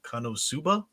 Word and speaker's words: KonoSuba: Matchstick says for the Weeb Watch this Sunday they're doing a comedy named Konosuba. Is that how we've heard it pronounced many different ways at this point? He says Suba pronounced like tsunami, so Konosunami?